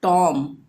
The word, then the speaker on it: tomb: इसी तरह से टॉम, लास्ट का B जो है इसको हम प्रोनाउंस नहीं करेंगे, TOMB, MB आ रहा है लास्ट में, तो B को साइलेंट रखेंगे यानी टॉम।